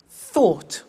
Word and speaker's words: thought: Think, thought. Watch that again. O-U-G-H-T, ought. Write, wrote.